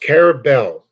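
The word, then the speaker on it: Carrabelle: Pronounced Carabel, okay?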